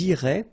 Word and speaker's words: iraient: So, ils iraient, and then if you look carefully, you get A-I-E-N-T, okay? But then phonetically, it goes like E, okay? So, technically, these form and these forms here are pronounced the same way. And it goes like irait, okay?